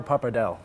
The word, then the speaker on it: pappardelle: Like the one that you're making for us today, and I'm going to let you pronounce it. It's what? Wild Boar Pappardelle. Pappardelle.